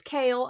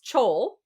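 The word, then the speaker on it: Chal: prince and then there's kale and he was like kale. And I was like yeah but it it's spelled ch h a l. And he goes that's chole. And I said it's not chole.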